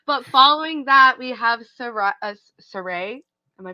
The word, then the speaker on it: Sarai: But following that, we have Saray. Am I pronouncing that? Yes, Sarai.